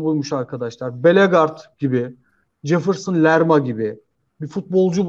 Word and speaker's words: Bellegarde: statik yolcu oraya basıyor bellegarde veya begart doğru telaffuzu bulmuş arkadaşlar begart gibi jefferson lerma gibi futbolcu bulması lazım Galatasaray